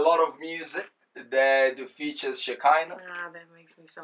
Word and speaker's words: Shekhinah: your music I'm thinking am I saying it right is it shakina is it shakina but it's shakina shakina shakina is the name yes you have been